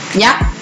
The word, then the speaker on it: ยักษ์: ไม่ มี นะ คะ เรา ออก เสียง มี สอน 4 ไหม คะ ไม่ มี นะ คะ เวลา กำลัง อยู่ ที่ ตัว ไหน ตัว นั้น จะ ไม่ มี เสียง นะ คะ ยักษ์ ต่อ ไป โทรทัศน์ อ่ะ